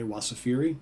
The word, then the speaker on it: Wasafiri: but if you go check them out again it's spelled w-a-s as in Sam a f is in Frank i r i okay wasafiri and uh I think you'll like this if